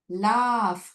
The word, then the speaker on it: laugh: Laugh, Laugh. It is appearing at the end of the syllable and it has the sound of F sound. It has F sound.